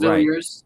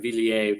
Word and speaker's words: Villiers: I didn't know if it had a French little, there is a French way to pronounce it, okay. But it's a little snobby. It's like Villiers, but I would never expect that.